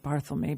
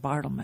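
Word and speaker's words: Barthelme: that barl me and I'll say his name barl me because I always say it bartl which is wrong um I think barl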